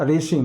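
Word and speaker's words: regime: इसका जो प्रोनंसिएशन होगा वो होगा रेशिम।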